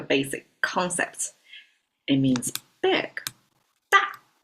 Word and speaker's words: 大: Da. Easy to pronounce as well. D-A and it's fallen tone.